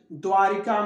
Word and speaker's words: द्वारका: द्वारिका नहीं, द्वारका, द्वारका, द्वारका, रिका नहीं रका, द्वारका।